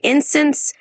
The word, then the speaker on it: instance: Just a small tip, when you say instance, just remember it's pronounced with the stress on the first part like instance.